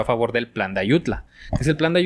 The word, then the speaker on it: Ayutla: En Ayutu. En Ayutla. Exacto. Por eso fue el plan deut. Plan de dónde? Ayutla. Ah, pues bueno, estamos en Tuvo que oír eh ah, perdón. Entonces se pronuncia el plan de Ayutla eh para derrocar a